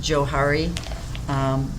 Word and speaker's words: Johari: window looks like and by the way it's pronounced johari because it's basically named after the two people